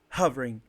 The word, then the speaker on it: hovering: When you see this little sign here, the apostrophe, Mm-hmm. it means that this is the strongest syllable of the word, this stressed syllable of the word.